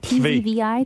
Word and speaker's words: Tzvi: T-Z-V-I?